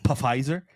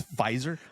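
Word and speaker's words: Pfizer: us uh I I I normally say this piser but the p is silent paper it's fiser fiser yeah why did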